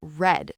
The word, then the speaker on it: read: We say red, just like the color red.